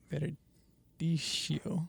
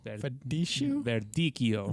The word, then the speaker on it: Verdicchio: Verdicchio. Verdicchio. There's an H in it. Pretend that the CCH is a K. Okay. Verdicchio. But say it in Italian, not in English.